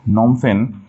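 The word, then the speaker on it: Phnom Penh: just ওইটুক মনে রাখলে হচ্ছে নেক্সট ওয়ার্ড হচ্ছে নমফেন নমফেন বানানো হচ্ছে কিন্তু পিএইচ দিয়ে হ্যাঁ নমফেন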